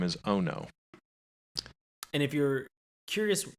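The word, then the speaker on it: Ohno: child-sized little girl robot and her name is Ono and if you're curious how that's spelled it it is the word o and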